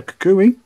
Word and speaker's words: Kukui: Lightning energy, Stuffle, Popplio, Zubat, Shellder, Young Goose, Energy Switch, Professor Kukui, that's how you pronounce it, Corsola, the reverse is the Bombi, Holo Rare, well, reverse Holo Rare, but still awesome.